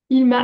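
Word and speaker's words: Hilma: Ilma af Klint, ça s'écrit H-I-L-M-A.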